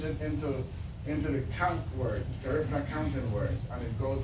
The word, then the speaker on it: Garifuna: You gotta say it like Lida Garifuna.